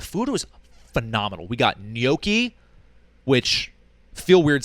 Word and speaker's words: gnocchi: We got gnocchi, which feel weird saying it. Feel like I'm mispronouncing it.